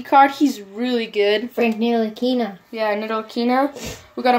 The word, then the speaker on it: Ntilikina: I don't know how to pronounce this guy, but it's Frank rookie card. He's really good. Frank Ntilikina.